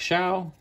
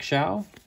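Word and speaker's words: Show: Hawkins Keith Morland Carmela Martinez Jimmy Jones Eric sha yes it's pronounced Shia by the way John krook Dave leaper Tim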